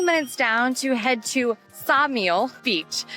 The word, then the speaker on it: Ksamil: So, we drove a quick 20 minutes down to head to Samile Beach. The K is silent, so it's throwing me off a little bit.